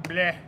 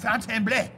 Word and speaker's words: Fontainebleau: The bleu. You gotta say it like you mean it. Fontainebleau.